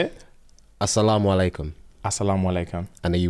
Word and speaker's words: assalamu alaikum: Assalamu alaikum.